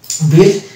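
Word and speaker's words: build: word আছে যেমন হচ্ছে বিল্ড এক্ষেত্রে ইউ আই এল ডি আছে এখানে কিন্তু ইউ সাইড থাকছে বিল্ড বিস্কিট এই শব্দগুলোকে কিন্তু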